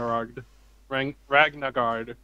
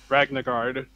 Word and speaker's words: Ragnagard: more ironic if we ended up dragging the rock ragnacard yeah there you go i pronounced it if right finally ragnagard if we ended on that one we'd be